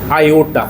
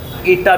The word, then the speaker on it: आयोटा: आयोटा ईटा भी बोल सकते हैं अपने सही उच्चारण के लिए। है ना? सुविधा के लिए ईटा भी बोलो। क्या दिक्कत है? तो आयोटा बोलते हैं।